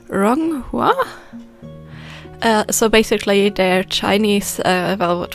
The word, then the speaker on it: Ronghua: Today I'm going to try to make velvet flowers, or don't judge me for the pronunciation, Ronghua.